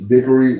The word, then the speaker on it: Bichri: That's pronounced Bickery. Where's the A? Bichri.